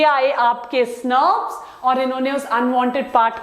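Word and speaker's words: snRNPs: जहां स्नर्व्स, इनका प्रोनाउंसिएशन स्नर्व्स है.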